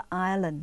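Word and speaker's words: island: l a n d แต่ เวลา อ่าน ต้อง ไม่ ออก เสียง ตัว S เลย นะ คะ เพราะ ฉะนั้น ต้อง อ่าน ว่า อารอน ไม่ ใช่ ไอส์ แลนด์ และ อีสแลนด์ นะ คะ ไม่ ใช่ นะ คะ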